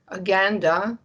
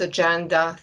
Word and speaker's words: agenda: example aganda and adanda aganda a word which you usually would pronounce as agenda things which you need